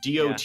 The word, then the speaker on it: Dota: Dota.